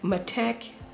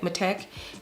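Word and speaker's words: MatTek: such as epi skin ma matec metec is how you say it metec and cell systems now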